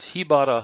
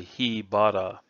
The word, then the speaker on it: hibara: first set of techniques here we use bada because it works well with with the preceding sound he had a would not sound correct so we say he bada and that if you